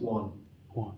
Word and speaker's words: one: man but we don't in English it's just one one so it looks like it Rhymes what we actually call technically this it's